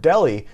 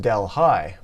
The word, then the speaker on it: Delhi: but the difference is that in India they pronounce the word Delhi, where this one is pronounced Delhi.